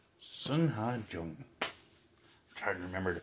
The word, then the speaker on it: Sungha Jung: Sungha, Jung. I'm trying to remember to pronounce it that way from here on in.